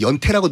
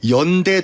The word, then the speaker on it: 연대: 그러니까 원래는 연대라고 읽어야 돼. 그 동네를. 근데 왜? 어느 순간 누가 있는지 모르겠지만 옌타이를 그냥 연태라고 누가 한 것 같아요. 그래가지고 약간 잘못된 발음이 고착화가 됐는데 연대 도시를 연태로 발음하면 청와대가 아니라 청와태로 해야 되고 대만이 아니라 태만으로 해야 돼요. 연대가 맞습니다.